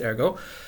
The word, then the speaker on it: Ergot: Alright, I really hope I haven't mispronounced his name. And it's actually pronounced Ergot.